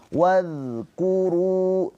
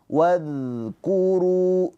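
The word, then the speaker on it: وَاذْكُرُوا: Wadkuru. Awas, huruf dza mempunyai sifat rakhawah. Rakhawah itu mengalir suaranya. Wad waz. Jadi jangan tertahan. Jangan wadku. Wadku tapi wadkuru gitu ya.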